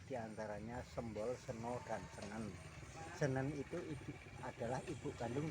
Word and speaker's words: Senen: Jadi ibunya Wagei Rudolf Surapan namanya Senen. Oh Senen. Bukan Senin bukan. Ejaannya ejaannya Senang. Nggih. Sen sen yang betul senang.